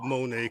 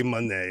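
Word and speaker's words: Moné: isn't it just Ultima Monae like that? But to be honest, the commentary, they they don't none of them pronounce Monae the same way. So yeah, they say Monday a lot.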